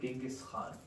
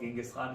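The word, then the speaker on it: Genghis Khan: Probably not called Genghaskhan. He's probably closer to the pronunciation be Chinjisan. Um, but white people rewrite history. I don't know what else to say, but like it's Latinized um to be called Genghaskhan.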